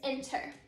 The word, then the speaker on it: enter: Whenever you say that word enter, you can hear that our accented syllable is the first syllable in that word. It is not our last syllable.